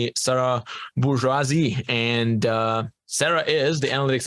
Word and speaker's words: Bourgeois: I typically say bourgeois, but bourgeoisie makes sense because that is kind of the term. So, but bourgeois is how I pronounce it.